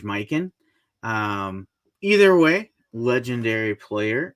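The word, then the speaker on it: Mikan: to probably correct me I always say George mcon but I believe it's George mikin um either way Legendary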